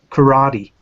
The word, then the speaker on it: karate: know so you know and like karate you know things like that those aren't words in Japanese either it's karat which is K and then